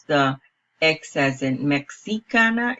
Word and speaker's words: mexicana: pronounce the excess and mexicana it is more of a J or an H for English sound it would be mexicana